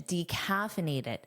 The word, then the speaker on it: decaffeinated: Notice that strong D pronunciation, decaffeinated. But native speakers generally shorten this to simply decaf.